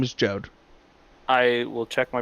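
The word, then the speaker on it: Jeod: It's Jode. His name is Jode. I will check my pronunciation guide.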